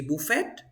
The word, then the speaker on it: buffet: you say Phuket bouquet Buffet is another French word so you say Buffet boo Buffet if you